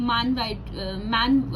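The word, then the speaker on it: Mann: Question number 8 unit 4 से, explain the concept, procedures and uses of मैन white, जैसे भी आप इसको प्रोनाउंस करेंगे, मैन या मान, ठीक है।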